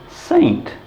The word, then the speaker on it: St: problem same as we when we see s t we pronounce it saint it's in fact one